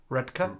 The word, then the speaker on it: Redcar: a cheap Istanbul Cafe in redka redka we're learning Dale told us how to pronounce that right on on Monday I found a cheap